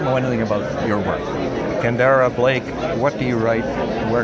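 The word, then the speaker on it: Kendare Blake: yet I do not yet know how to pronounce her name. She's from Gig Harbor, Washington, and you are? Kendara Blake.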